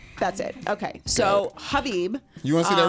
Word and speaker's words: Khabib: But so silent the K is silent. Silent K. That's it. Okay, so Khabib. You want to see that rematch, Khabib and Yes, I do want to see the rematch with Khabib.